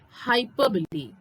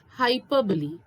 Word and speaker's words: hyperbole: next figure of speech this is known as hyperbole yes that is how you are supposed to pronounce it is pronounced as hyperbole what is hyperbole it is nothing but an